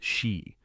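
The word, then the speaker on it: sídhe: Take, for example, the tales of the sea, pronounced she, the fairy folk of the hollow hills.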